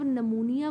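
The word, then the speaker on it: pneumonia: जो साइलेंट होते हैं जैसे जब आप निमोनिया को पढ़ते हैं तो नोनिया आपको लगता है कि एन से स्टार्ट होता होगा लेकिन ये पी से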